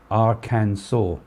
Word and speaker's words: Arkansas: she was as a younger girl arkansas is pronounced arcane saw how was it and i can saw you